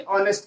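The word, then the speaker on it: honest: अब स्टूडेंट के लिए हम यहाँ पर आर्टिकल लगाएंगे, ना कि ऑनेस्ट के लिए। लेकिन चूंकि स्टूडेंट के पहले ऑनेस्ट लगा हुआ है, इसलिए चूंकि यच यहाँ पर साइलेंट है, तो यच के अकॉर्डिंग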